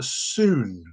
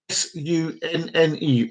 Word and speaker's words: Sunne: Its original name is Soon. That's Sunne. Soon.